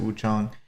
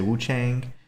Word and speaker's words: Wuchang: I do call it I do say Wu Chong pronounce it Wu Chong. That's more correct. I know that some of the voice actors in this also say Wu Chang.